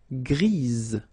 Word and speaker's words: grise: Gris, don't pronounce the S, but then for the feminine form, grise. Remember? Grise. Alright? So when you add this E, basically it gives you the pronunciation or the possibility to pronounce the previous letter here. It's Z.